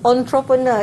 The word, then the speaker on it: entrepreneur: uh just now the the pronunciation of entrepreneur is quite difficult because it's not as the spelling it's one ah yeah